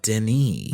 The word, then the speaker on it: Denis: It looks like Dennis, but it's pronounced Denis. Ah, Denis.